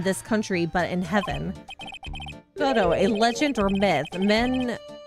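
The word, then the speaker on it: Godot: is this goo person I think it's goo I think the I don't think the tea think the tea is silent it's not surprising that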